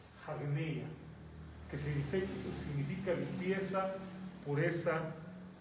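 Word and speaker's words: ἁγνεία: Esta comita de que arriba se pronuncia como si fuera una H o una J, hagneia, que significa limpieza, pureza y castidad.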